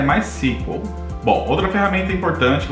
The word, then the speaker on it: MySQL: E aqui a pronúncia correta é MySQL.